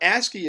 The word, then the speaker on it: ASCII: characters it's called a SC I I it's pronounced ASCII um ask and so what a ski is it's an abbreviation of stands for something